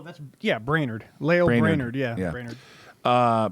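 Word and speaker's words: Brainard: Brainerd. Brainerd, he's got a big brain, said the situation bears watching and points up the importance of making sure the system has proper safeguards.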